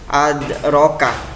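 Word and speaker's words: أَدْرَكَ: Ini kata ya, adraka. Jadi jangan dibaca ade ya, ade, jangan ya. Karena ini di tengah-tengah sehingga bacanya surah kecil atau tipis ya. Adraka.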